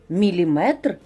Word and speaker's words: міліметр: Наголос в кінці на метр, міліметр і сантиметр. Дециметр так само буде.